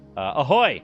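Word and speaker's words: ahoj: But he told me ahoy, A-J-O-Y, or no, A-H-O-J is Czech for hi or hello. So ahoy. I think it's pronounced ahoy.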